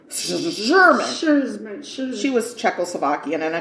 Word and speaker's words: Szurma: It's Sermon, I think, but it's an Szurma. So it's Sherman.